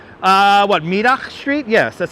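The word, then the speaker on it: Middagh: and windy and is that how uh what midak street yes that's how you correctly pronounce it most people pronounce it Mah streets but it's spelled like midah or afternoon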